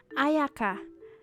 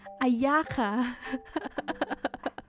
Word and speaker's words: Ayaka: think they men uh in japanese is pronounced as ayaka but in english in in the english dubs it's ayaka i mean i guess